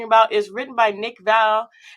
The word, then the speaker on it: Vale: In Spanish-speaking countries, they call me Mr. Bale because the V is pronounced with Ah, a yeah. B. Yeah, that's right. It's That's Vale. right. It's Vale.